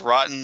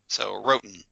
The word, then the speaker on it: Rotan: But he does correct me and us on that, because he says Rotten is spelled Rotan. So Roten, Michael Roten, writing in, "Hello again, Titan Talkers.